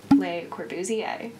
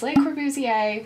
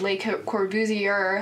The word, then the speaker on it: Le Corbusier: to introduce you today to someone known as Le corbuzier he is known as Le corbuzier that is how you pronounce his name not corer trust me I